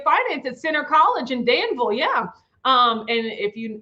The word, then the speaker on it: Danville: if you notice like i would say danville um but that's not how you say it if you're from there it's danville like louisville likes danville and so i have